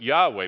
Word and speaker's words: Yahweh: Well, if you're from the Bible world, it would be not Jehovah, but Yahweh.